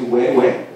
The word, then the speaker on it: huehue: the drum is called huehue. We take the first syllable, hue, but the two dots mean that it has to be pronounced twice, so it's huehue.